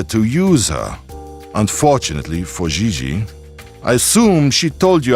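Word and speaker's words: Gigi: I mean JJ ji JJ on France you pronounce g like J and J like G she may very well be JJ in America but in France she is XII has she done modeling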